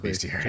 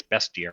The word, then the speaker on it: bestiary: know how to pronounce I've always said beastiary even though it's Tech I remember seeing a video and they were like it's bestiary because it's based ontin okay tryy whole